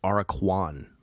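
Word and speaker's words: Aracuan: the song for the araquan i've been saying it wrong have i been saying the aura qn are a q on or i don't know what i've been saying but it's araquan bird araquan and listen to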